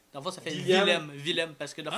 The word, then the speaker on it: Willem: Puis en allemand, le W se prononce V. Ah, ok. C'est William. Non, dans le fond, ça c'est V. Dans le fond, ça fait Willem.